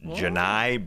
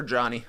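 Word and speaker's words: Johni: go watch Janai broom I didn't know that was a pronunciation good to hear it same I thought for sure Johnny yeah j o h n i that's Johnny no that's Janai different guy all my number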